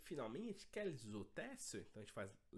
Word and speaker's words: quels hôtels: Somente aqui, nesse caso, porque o H é mudo, então, e ele precede uma vogal, então a gente vai fazer la liaison.